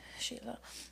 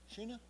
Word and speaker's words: Sheila: Sheila. Huh? Sheila. Sheena? Sheila. Spell it.